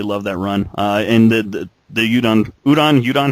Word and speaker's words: Udon: And the Udon, how is it pronounced? I think it's udon. I think it's like udon noodles.